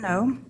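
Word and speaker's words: Noe: Okay, first off, my name is No. That is spelled.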